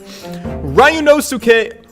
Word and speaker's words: Ryunosuke: Ryunosuke. Am I saying it correct? Is it Ryunosuke? That's the pronunciation that I'm being given in chat.